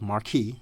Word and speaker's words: Marquis: It's Marquee and you you said it right, Marquee, um the program director of 91.3 KPVU and also the adviser for PVU student radio organization.